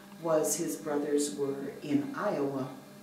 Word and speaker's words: Iowa: All he knew was his brothers were in Iowa. And when he looked at that word, it looked to him like it should be pronounced Yova.